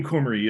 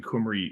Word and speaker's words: Cymru: that in English, but Welsh is a strange language. W is a vowel in Welsh. Who knew? And if you are Welsh, I know I'm not pronouncing Cymru exactly right, but I